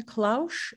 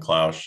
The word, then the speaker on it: Klausch: How about Klausch? Is that how you pronounce it? Yeah, you got it. All right. Morning, everyone. I'm Klausch.